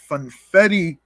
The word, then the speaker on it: funfetti: walnut cookies the fin funfetti cookie uh which is which is the opposite of confetti obviously it rhymes with confetti folks so there you